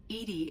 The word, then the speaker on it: EDI: why are you named Edie Edie is the phonetic pronunciation of EDI that is an acronym